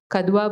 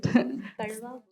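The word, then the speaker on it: Kadhua: In 2015, he was awarded the national award for his kadwa bhidar sari. Am I saying it right? Karda karda bhidar. Sorry.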